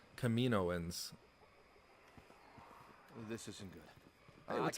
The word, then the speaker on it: Kaminoans: A lot of people, I always say Kaminoans because that's how Obi-Wan said it in the Clone Wars, but I think somewhere else people say Kaminoans.